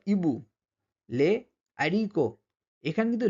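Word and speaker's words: les haricots: দিচ্ছি সেজন্য লিয়াজ হচ্ছে এরপরে কিন্তু লে জারিক এটা কিন্তু আমরা উচ্চারণ করছি না উচ্চারণ এটা হবে লে আরক ঠিক আছে এখানে কিন্তু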